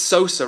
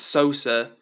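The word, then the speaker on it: Xhosa: Zulu, I think it's Sosa, right? Correct me if I'm wrong, I think it's Sosa. I think that's how you pronounce it.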